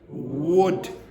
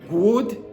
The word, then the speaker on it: would: So the pronunciation of this is would w. Look at my lips. Wood. It is not good. It is not good. It is not bull wool hul etc.